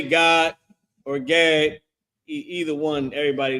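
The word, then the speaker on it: גד: It's just pronounced God, like God and Da connected. Instead of it being Gadah, it's just God, right?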